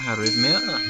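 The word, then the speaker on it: arrhythmia: Uh, arithmia is how it's pronounced.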